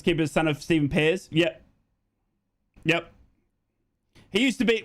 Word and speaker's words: Pears: You're pronouncing their keeper's name wrong. Try saying Pears. His dad's a Boro legend. Pears.